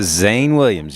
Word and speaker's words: Zane Williams: show we have Shane Williams saying how I pronounced your name right yeah Zane Williams you got it well saying you have a